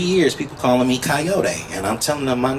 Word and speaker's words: Kayode: And so my name starts out like that. So instead of saying the click, they put the K. Because it kind of sounds like a K, but it's coming from your throat.